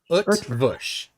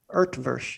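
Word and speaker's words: Eötvös: The Utvush. Urtvush. Yeah. No, there's no R sound. Utvush is.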